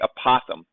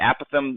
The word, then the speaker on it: apothem: hexagon it's called the apoem sometimes it's called the aatham it's pronounced either way it's the apoem of